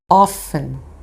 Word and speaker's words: often: de frequência Ah e não se esqueça de não dizer a letra T na hora de pronunciar essa palavra Hoffmann e dentro dessa mesma